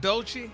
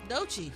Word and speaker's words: Doechii: Doechii? Doechii.